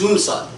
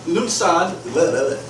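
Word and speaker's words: Lughnasadh: is lunad okay lunad lunasad lunasad is a Gaelic word so it's kind of it's spelled let's see let's see it's spelled uh l u g h n a s a d h okay yeah yeah lunad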